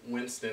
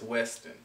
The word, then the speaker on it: Winston: to different places and most people would pronounce my last name Winston as Weston so I just decided